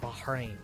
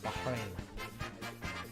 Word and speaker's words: Bahrain: And also, if you don't know, when you're pronouncing Bahrain, you have to pronounce the H a little bit more. Bahrain. Bahrain.